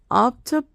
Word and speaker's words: optabam: Or actually, it should be pronounced O. O. A is your A. O. A, E, I, O, U, O. Oh, jeez. Optabam, optabam, optabas, optabat, optabamus, optabatus, optabant. Bant. Optabant. Okay. That verb is done. There should be a clear distinction between the A and the O.